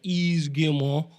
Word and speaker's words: Yves Guillemot: So the first thing that they did was they brought out Yves Guillemot. That was good. Yeah, that's how you pronounce his Is it name.